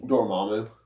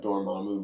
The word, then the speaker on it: Dormammu: Dormammu. Dormammu has something to do with Wonder Man. Your mom do.